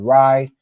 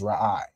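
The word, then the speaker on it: רע: So you wouldn't pronounce this word Rai, you pronounce it as Ra'ai.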